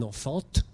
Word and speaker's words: enfant: Vous voyez le T d'enfant qui, bien sûr, ne se prononce pas. Personne n'aurait l'idée de dire un enfant.